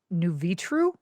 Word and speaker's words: Nuvitru: New Vitru.